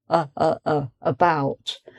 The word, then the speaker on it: about: And it comes in a word like about. So the A, I've put a little underline to show that's the schwa. About. So the stress is on bout, and the beginning, the first syllable, is unstressed. And that shows how schwa comes on the unstressed syllable, about.